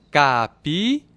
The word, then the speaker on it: capiguara: E capivara significa roedor de capim, ou seja, capiguara. Capiguara. Essa é a forma correta no tupi antigo de se pronunciar, de se falar capivara.